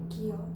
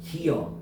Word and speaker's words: 기어: 기어 기어 기어 그러면 어발음도 가고 기여 기어 여발음도 희한하죠 기여 기여 기여 기어 그지어나여 발음이 나요. 그럼 봐봐 원칙은 기어야 당연하죠. 두 개가 붙었으니까. 근데 허용은 반모음 첨가로 뭐도 허용해 준다는 거야.